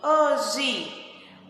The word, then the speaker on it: hoje: Então, nós podemos ver que a palavra hoje, nós pronunciamos com o finalzinho I, hoje, mas ela se escreve hoje, com E.